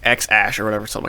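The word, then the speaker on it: X Æ A-12: So, yeah, So the name is X Ash. 12. A-12 is silent.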